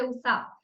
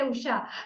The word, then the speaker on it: Usha: So many people I have seen, even my name, they say Usa. They don't say Usha, they say Usa.